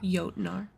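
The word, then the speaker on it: Jötnar: The mountain became a shelter for the outcast and the artist for, how do you pronounce that? Jotnar.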